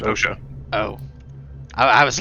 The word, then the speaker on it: OSHA: It's pronounced OSHA.